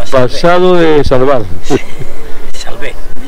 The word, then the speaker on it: Salve: Salve, con acento en la E.